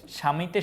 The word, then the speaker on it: স্বামী: বলি সবদেশ বলি না তারপরে জ্বালা এটা কিন্তু জাবালা বলি না সাপদ সাবাপদ বলি না ধ্বনি বা হচ্ছে ধবনি বলি না স্বামী সাবামি বলি না তার মানে ব এর